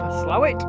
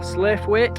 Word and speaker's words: Slaithwaite: At the moment we are just climbing out of Slowit, or Slaithwaite, however you want to pronounce it.